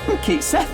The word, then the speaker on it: Cait Sith: And it turns out they went with the English phonetic Kate Seth, which is probably the right move honestly. Like if you're going to spell it Kate Sith and call it Ketchy, you're going to confuse like everyone who speaks English.